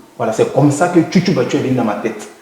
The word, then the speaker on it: Tchoutchoubatchou: C'est juste qu'ils ont la paresse de prononcer peut-être, sinon c'est pas difficile, c'est Tchoutoubachou.